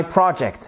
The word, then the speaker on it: project: I want to present my I want to present my project. Exactly. Project. Vous voyez, vous avez évidemment un accent tonique ici sur la première syllabe.